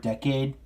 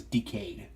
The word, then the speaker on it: Decade: like that so yeah I'm gonna go up with the Japanese pronunciation of the word decade yeah it does look at sprouts a decade but my friends is decayed because that's how they